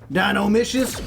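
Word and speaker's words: Dinomischus: Yeah, I'll get Dynino Micious back. Dino Micious rhymes with delicious.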